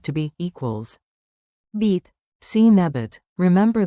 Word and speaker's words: být: Equals Beet, seen a bit. Remember the long y n. Beet, stretch it like dramatic theater while sipping coffee very, very seriously.